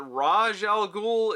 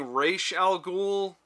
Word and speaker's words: Ra's al Ghul: different Batman things and I've been told that Ra's al Ghul is the correct way to say it but for some reason they keep saying raesha al Ghul so I know which